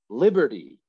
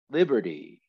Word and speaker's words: liberty: us so how about liberty liberty liberty hopefully you're you're thinking oh how many syllables how many syllables three right the word liberty has three syllables and i'll say it